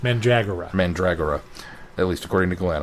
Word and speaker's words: Mandragora: actually sent me this is how this is pronounced mura mandragora at least according to Glenn I'll have to